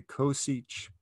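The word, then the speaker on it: csch: one over sinch of x and we say coseach and the hyperbolic cotangent of x would be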